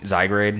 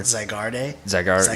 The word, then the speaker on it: Zygarde: What is the Z Pokemon that didn't Zygrade or whatever? Zygarde. Yeah, something like that.